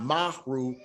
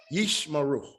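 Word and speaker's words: ישמרו: This is only a placeholder, maru. not mahru, yishmaru, yishmaru. So when you see them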